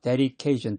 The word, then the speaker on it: dedication: Dedication, D가 리을로 발음이 돼.